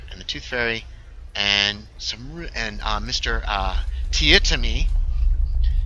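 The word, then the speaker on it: Teatime: Tietami. He doesn't like when you pronounce it tea time.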